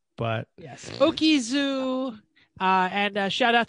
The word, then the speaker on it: Butte: We're going to call it Butte. Butte. B-U-T-T-E. Okay, whatever the county that is. You said Butte.